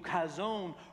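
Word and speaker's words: חזון: in that Vision because that word in the Hebrew khazon rhymes with calzone repeat after me calzone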